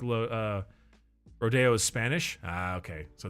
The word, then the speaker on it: Rodeo Drive: Hills called Rodeo Drive it's spelled rodo but it said Rodeo don't